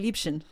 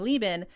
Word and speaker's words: Liebchen: the word is actually Liebchen, meine Liebchen, and that's what Karnak says, meine Liebchen, meine Liebchen. But since Baiko could not pronounce Liebchen and kept calling Lieben, it's the same thing